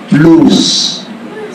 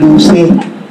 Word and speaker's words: loose: Now, ang password na ibig ko pong ibahagi sa inyo ay ang salitang lose. L-O-O-S-E. L-O-O-S-E. Lose. Hindi luce. Kasi silent yung letter is sa dulo, silent E yun.